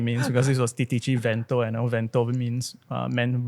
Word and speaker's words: Titici: Okay, how do you pronounce the brand of this bike? Titici. Titici.